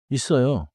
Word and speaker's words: 있어요: The middle sound is strong, like 있어요. 있어요.